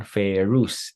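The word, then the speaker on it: ferrous: of iron so iron ferus F2 no so fe2 ferus fe3 feric fe3 is feric so remember Fu rhymes with two faic rhymes with three no fairy3 so where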